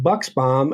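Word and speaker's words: Buchsbaum: of the story and I didn't realize that it was actually pronounced bucks bomb until I didn't know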